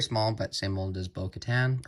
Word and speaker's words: Bo-Katan: It's her jetpack, which is very small, but same mold as Bo-Katan, or Bo-Katan. I say it like Moff Gideon.